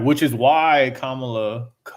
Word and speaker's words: Kamala: Like, which is why Kamala. You said it right. comma, bro. It's a comma. Kamala.